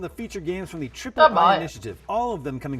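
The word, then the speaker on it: Triple-I: Yeah, I'm pretty sure it's pronounced Triple I. You know, like AAA, but with I for indie. Are you sure? That doesn't really like roll off the tongue like Ayayay.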